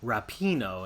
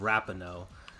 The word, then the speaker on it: Rapinoe: course Andrew here is correcting my pronunciation of Rapinoe instead of rappin oh that's a rap name so anyways you know